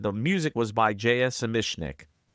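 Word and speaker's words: Zamecnik: Zemishnik. In older commentaries, I erroneously called him Zemechnik, but it's pronounced Zemishnik.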